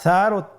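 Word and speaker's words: ث: ছিল 2টি নোক্তা, আর সারও 3টি নোক্তা রয়েছে, সেটা হলো তার উপরে। তাহলে 3 নোক্তাওয়ালা হরফটিকে কি বলে? সা। আবার বলুন সা। সা হরফটি বারিক মানে পাতলা করে উচ্চারণ করতে হবে।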